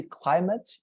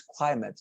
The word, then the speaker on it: climate: rather than saying weather, the pronunciation is, let me show you, climate, like this, climate.